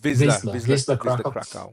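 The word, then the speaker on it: Wisła Kraków: So I think the first game against how do you pronounce it? Wisla Krakow. Wisla Krakow.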